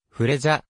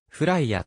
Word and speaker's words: Freja: をされるが正しくは英語の炎ファイヤーファイアに近い発音でありカナ表記はフライやとなる 2003 年 15 歳